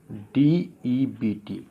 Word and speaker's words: debt: लिखा है मैंने, देखिए DEBT। अब यहाँ पर बी क्या है, साइलेंट है। मैंने अभी बताया है बी और टी का कॉम्बिनेशन नहीं बनेगा साथ साथ, तो बी क्या कर दूँगा मैं, साइलेंट।